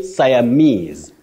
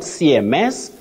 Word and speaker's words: Siamese: absolutely yes you say Siamese Siamese not CMS not CMS you say siamese twins siamese twins Betty okay sames twins it